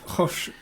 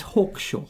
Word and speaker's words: Hawkshaw: But it's spelled so it's not Hosh. It's not Hosh. No. Okay, fair enough. It's Thomas Hawkshaw. It's Hawkshaw.